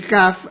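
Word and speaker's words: CAFH: CAF se escribe C-A-F-H.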